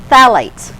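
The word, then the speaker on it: phthalates: Phalates. Now, that is spelled with a ph. So you're not don't go looking for TH.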